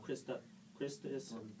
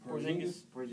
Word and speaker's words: Porzingis: The Knicks are thinking about trading him and building their team around Christus. Porzingis. Yeah, Porzingis. Or How do you pronounce Buckets.